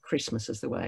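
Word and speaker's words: Kiritimati: h-bombs on christmas island kirimati is the way it's spelt christmas is the way it's pronounced however we have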